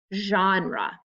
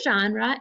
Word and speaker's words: genre: we call these types a genre try that fancy word say it genre it's a french word that means like a